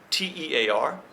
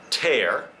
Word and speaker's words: tear: here is one that has the same spelling t e a r but there are two pronunciations and two meanings and I have have to check tear and tear okay tear noun usually